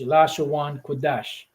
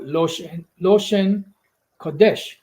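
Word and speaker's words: לשון קודש: But Esau, the small heads, they have something called Loshen Kodesh, or Kodesh, or whatever they say it, which is the same thing, but just with a different pronunciation.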